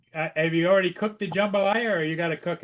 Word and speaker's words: jambalaya: Well, I I did I did say jumbalaya, but then Joe corrected me and said, "TJ, it's jambalaya."